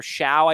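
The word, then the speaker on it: Shough: Tech pretty much back Tyler Xiao I believe is how you say it is going to be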